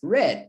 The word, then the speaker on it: read: the past tense is not read it it's red and worst of all it's spelled the exact same way but it's pronounced